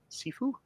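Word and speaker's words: Cifu: Am I pronouncing that right? Sefue.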